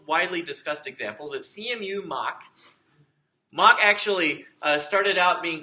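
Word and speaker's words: Mach: of the most widely discussed examples at CMU mock mock actually started out being called muck but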